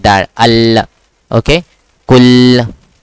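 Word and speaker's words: قُلْ: So make sure that you pronounce the L lam proper. Kul.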